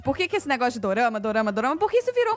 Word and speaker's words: Dorama: falar dis Na verdade o Dorama ele é a pronúncia japonesa de drama no japonês beijo x